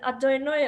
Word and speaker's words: Adonai: One is Adonai, and it's actually spelled Yehovah, which is like Jehovah, but we just pronounce it Adonai only when you say a blessing, and that's considered terrible